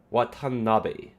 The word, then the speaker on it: Watanabe: That's supposed to be excuse me, Watanabe. Watanabe. Because the E at the end of Bay, it needs to always be pronounced as like men, ne, this is how Japanese works.